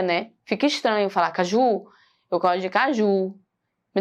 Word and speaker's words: caju: Não é o ju. Olha só o exagero. É claro que eu não falo da forma que eu estou exagerando aqui pronunciando. Mas eu consegui identificar que é o que, ó? É o K. Caju. Ele é o mais forte.